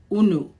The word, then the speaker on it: unu: that we use, and we pronounce it unu. This is the Igbo word una.